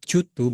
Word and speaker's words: due to: Teman-teman, jika menemukan kata dueto atau jutu bacanya, itu arti maknanya disebabkan.